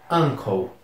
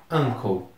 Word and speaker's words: uncle: Tio se pronuncia uncle. Uncle.